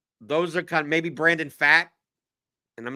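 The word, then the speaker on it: Pfaadt: strowman even uh those are kind maybe Brandon fat and I'm not a big Brandon fat guy but I'm I'm always I'm always how do you feel Brandon f f is that his that's how you pronounce pronounce f yeah I'm I'm always interested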